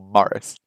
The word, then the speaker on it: Maurice: Maurice? Maurice? Emphasis on the second syllable? Maurice? Or Morris? Now, Morris would be Morris, right?